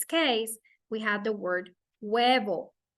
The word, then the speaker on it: huevo: In this case, we have the word huevo. Huevo. Huevo. The rule for the Spanish H is that it's always silent.